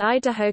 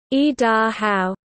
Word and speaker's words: Idaho: The word consists of three parts. The first is, e, which in English conveys the idea of coming down.